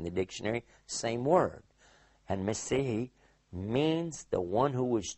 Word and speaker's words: Messiah: in the Old Testament, Messihi, which we as English speakers usually mispronounce and we say Messiah. But in fact, it is Messihi.